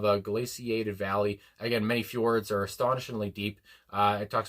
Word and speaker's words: fjord: do want to mention, because a fjord, I guess, is how you do pronounce it. And I was thinking, is that like Bjork, where you're supposed to pronounce it like Bjork? But I think he did say fjord.